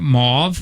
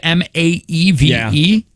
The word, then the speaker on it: Maeve: How do you pronounce this one? Is that Mauve? How do you spell Mauve? Maeve. Is that Maeve? M-A-E-V-E?